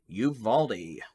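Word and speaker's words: Uvalde: so i'm waiting someone told me how to pronounce something and i don't want yuvaldi youvaldi youvaldi thank you you've already i don't intentionally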